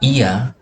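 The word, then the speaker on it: Oia: serta kapal telinga Oiya yang dalam ejaan Yunani dibaca Ia adalah Kota Pesisir ujung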